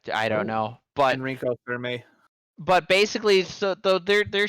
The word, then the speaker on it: Fermi: it's there's thousands of f-e-r-m-i i pronounced it for me oh for me okay because i was thinking of okay because fermay i think was one of the guys who worked on the first nuclear reactor thing i i don't